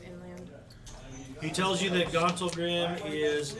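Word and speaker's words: Gauntlgrym: And he's in a place called Gauntlgrim. What? Am I saying it wrong? No, Gauntlgrim was Okay, Gauntlgrim, yeah, Gauntlgrim.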